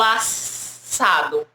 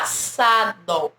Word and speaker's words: assado: Eu tenho dois S's que vai ter som de um S só. Então, SS, assado. Eu não falo assado. Não, né? Para pronunciar cada som desse S, não, a gente não fala assado. A gente fala assado. Como se tivesse apenas um S.